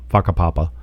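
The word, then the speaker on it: Whakapapa: car at faka Papa yeah faka papa the wh is pronounced as F Village and we start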